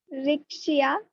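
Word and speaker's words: Riccia: Rixia. हाँ, अच्छा वो रिक्शा नहीं बोली.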